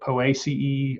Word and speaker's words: Poaceae: Easy way to remember that is to pronounce it A.C.E. So Poaceae, Asteraceae. Now that is not the correct Latin pronunciation, I'm pretty sure, but I'm not a Latin scholar. And that's easy to remember and close enough.